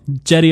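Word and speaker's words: Cedi: That is, it's a J. It is a J. I think it's a soft. I'm in. Jetty Osman. Possibly a soft J.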